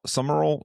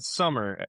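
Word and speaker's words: Sumrall: It's not summer. It's not s u m m e r. You'll spell it wrong if you do it that. It's s u m r a l l. More like Sumerol.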